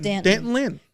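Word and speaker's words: D'Anton Lynn: The the SE media guide literally says rhymes with Canton. So, it's Dant Danton Lynn.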